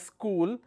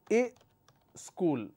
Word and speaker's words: school: those parts, central part, they don't pronounce this as school, they say a school. Okay. Now how many syllables do I have in the word school? Only one, school. But they add another syllable here and they make it is school.